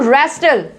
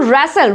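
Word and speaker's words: wrestle: Next देखो रेस्टल, क्या बोलेंगे हम इसको, रैसल, रैसल, रेस्टल भी नहीं बोलेंगे।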